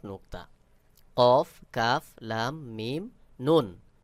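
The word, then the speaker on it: نون: একটা পেঁচানো আছে এটার নাম কাফ কফ এবং কাফ তারপর লাম মিম নুন নুনের উপর এক নুক্তা কফ কাফ লাম মিম নুন কেউ কেউ বলে নু এটা সহি উচ্চারণ নয় সহি উচ্চারণ হলো নুন কফ কাফ লাম মিম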